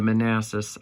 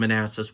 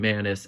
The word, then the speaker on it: Manassas: if you didn't know the battle of Manassas was a battle during I think it was the Civil War I'd have to look that up but she pronounced it in Manus and I didn't say